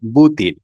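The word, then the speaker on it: بوتين: এটাকে আরবিতে বলা হয় বুতিন। খালাদিমির বুতিন। অর্থাৎ যেটা ভি দিয়ে শুরু হয়েছে সেটা আরবিতে উচ্চারণ হয় পা দিয়ে।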